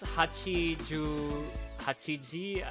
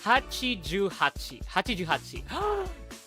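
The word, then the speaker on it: はちじゅうはち: 88, otherwise known as, I think it's Hachiji. I forgot. Yes, that's gonna be their Master 29. How do you say it? Wait, hold on. Hachijuhachi. Japanese!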